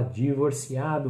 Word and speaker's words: divorciado: Como é que a gente fala divorciado? Vamos lá, continuando. Também não muda muito, mais uma questão de pronúncia. Divorciado, divorciada. Porque o som do V, novamente, somzinho de B. Divorciado, divorciada, tá? Então, é aí as palavrinhas.